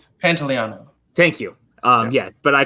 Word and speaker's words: Pantoliano: Joey pants yeah Joey panatela is one of my favorite I totally butchered his name by the way because it's very Pantoliano thank you yeah but